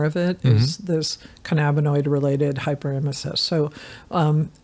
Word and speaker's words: Hyperemesis: Hyperemesis.